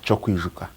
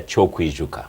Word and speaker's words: Kyokwijuka: Yes, Kyokwijuka. Kyokwijuka.